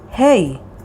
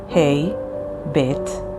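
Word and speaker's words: ה: the next letter is hey hey sounds either like ha when it's in the beginning or middle of the word or like a when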